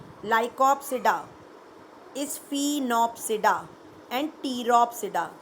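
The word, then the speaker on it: Pteropsida: देखिए 4 क्लासेस हैं, सीलोप्सिडा, P silent, लाइकोप्सिडा, स्फीनोप्सिडा एंड टीरोप्सिडा, P silent.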